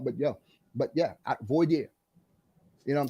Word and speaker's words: voir dire: How do you pronounce that word? Voir dire.